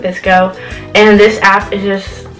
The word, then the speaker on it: VSCO: some people pronounce it visco some people pronounce it VSCO I pronounce it visco and this app is